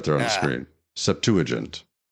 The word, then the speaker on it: Septuagint: of that word septu you're not saying it right Septuagint it's right there on the screen Septuagint it's the earliest extent